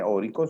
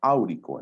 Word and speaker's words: áurico: Acuérdate que el oro tiene raíz latina, no se dice órico, sino áurico, en terminación ico para el mayor más oxidado, y produce el hidróxido del mismo nombre, hidróxido áurico.